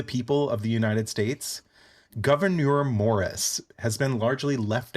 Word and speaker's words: Gouverneur: too hard to pronounce it's like a french spelling uh it's g o u v e r n e u r governor oh he's not just